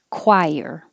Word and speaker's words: choir: same coral and that ch sounds like a k in chorus and choir because it's from um greek words we kept it that way woodbridge the wood